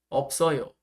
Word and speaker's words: 없어요: 발음으로는 있어요가 돼야 됩니다. 있어요. 있어요. 네. 없어요에서는 한 개만 이동합니다. 없어요. 없어요.